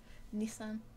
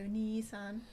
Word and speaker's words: Nissan: Shall I tell you what else the Americans say funny? Nissan. Yeah, you Americans. Yeah. Nissan. They go Nissan. To be fair on the Americans, Hilarious. it's a Japanese name, Mm.